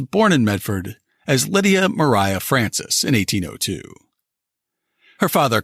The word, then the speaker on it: Maria: the conquered fight Lydia Mariah Francis always hated the name Lydia so she went by her middle name which was spelled Maria but she pronounced it as Mariah she was the youngest